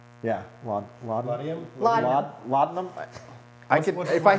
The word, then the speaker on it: laudanum: Laudium? Yeah. Laudium? Laudanum.